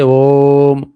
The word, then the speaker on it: ओम: दो मात्र उच्चारण दीर्घ दो मात्र से और अधिक उच्चारणं है फ्लुत जैसे ओम जैसे ओम का उच्चारण करते हैं। ओम का उच्चारण करते हैं।